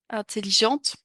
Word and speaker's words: intelligente: est intéressant c'est attention si on est une femme intelligente intelligente on va prononcer le T sincère oh tu l'as